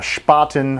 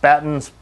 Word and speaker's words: Spaten: to do the uh spoten I guess that's how it's pronounced spaten spoten it's probably pronounced German spoten and it's October Fest